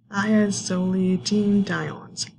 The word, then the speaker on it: thiazolidinediones: This is a tricky one to say, but this is pronounced thiazolidinediones.